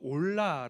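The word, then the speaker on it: עולה: 있습니다 첫번째 번제 는 히브리어로 올라 라고 이야기합니다 2 온라인 뜻은 그 발음 그대로 올라간다 라는 그런 뜻입니다 왜 오셨죠 네 번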